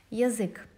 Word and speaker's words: язык: Язык. Also, the stress falls on ы, not on я. That's why we pronounce я as и.